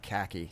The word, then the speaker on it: khaki: to um but yeah that's khaki to rhyme with tacky I no like I